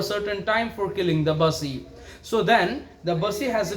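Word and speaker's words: Bussy: an officer named bassey don't call it as a busy b you double s i the pronunciation should be busy okay the spelling and all don't go with that the pronunciation should be in the busy manner itself so an officer called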